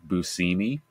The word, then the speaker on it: Buscemi: Like when you realize that it's actually pronounced Steve Buscemi.